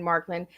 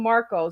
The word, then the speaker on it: Marklyn: In the beginning, I was calling him Marco. So we have Marklyn here.